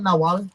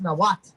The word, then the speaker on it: Nahuatl: It's not what Nahuatl. It's Nahuatl, right?